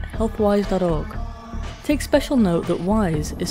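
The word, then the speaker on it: Wyze: And again, WISE is spelt W-Y-Z-E.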